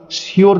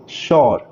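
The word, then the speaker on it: sure: তো এই উচ্চারণটা শিওর না বলে আমরা বলবো শিওর।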